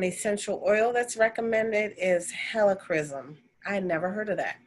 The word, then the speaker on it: helichrysum: right and an essential oil that's recommended is helichrysum i never heard of that helichrysum it's spelled h-e-l-i c-h-r-y-s-u-m never heard of that one